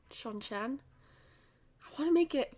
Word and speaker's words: Seanchan: chapters from the as I now know it's pronounced Sean Chan Sean Chan I want to make it feel natural but you know my brain just reads xianchin it's not that so um these are the